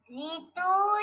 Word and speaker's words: ঋ: সানভী বলতো মা সানভী অডিও খুলে বলো মা ঋতু ঋষি ঋষি ঋষব থ্যাঙ্ক ইউ ফাতেমা হাত তুলেই